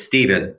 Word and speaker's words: Stephen: ruined it for all of us, but it's Stephen the way that I pronounce it. That's the way my That's the way my father pronounced it. Stephen.